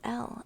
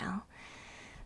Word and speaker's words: Elle: Your first name is Elle, which is just Ella, which is just pronounced as L. Oh, okay, Elle.